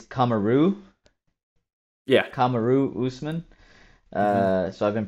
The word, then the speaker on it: Kamaru: Kamaru Usman. So I've been pronouncing it incorrectly the entire time.